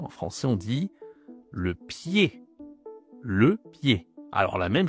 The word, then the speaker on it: pied: C'est marrant, on dit pas piè, on dit pied. E D ça fait E. Bon et ben c'est la même règle. Encore une fois le Z, le D, on ne doit pas le prononcer en français.